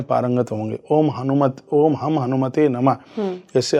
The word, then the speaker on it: हनुमते: बहुत लोग इसको ओम हनुमान ओम हम हनुमतेय नमः बोल देते हैं तो ये मिस्टेक हो जाती है। गलत हो गलत हो जाता है। सही उच्चारण बहुत जरूरी है।